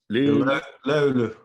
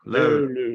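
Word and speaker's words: löyly: Lulu, Lulu.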